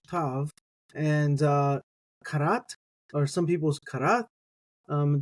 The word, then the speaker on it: כרת: scheme used um so when I think karat you can think of a pneumonic device like a carrot being cut up um or like a cat uh like a uh 10 karat diamond or something like